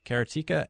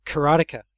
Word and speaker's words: Karateka: II users, that being Jordan Mechner, creator of Karateka and Prince of Persia, the classic video game franchises that launched on the Apple II back in the 80s. That would be Karateka, Ken. You know, I've heard Karateka, I've heard Karateka, and just recently Wade Clark